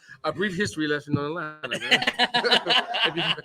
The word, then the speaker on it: Atlanta: A brief history lesson on Atlanta. Man. if you ever come to Atlanta, don't say Atlanta like me. Just say Atlanta. It's spelled Lanta.